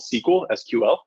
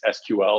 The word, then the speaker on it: SQL: And the language with which you query and sift through all that data is SQL, or it's pronounced SQL.